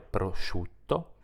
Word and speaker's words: prosciutto: parole sciopero e risciò SC iu come immaginerai si legge evidentemente Shu come nelle parole prosciutto e asciugamano la i non si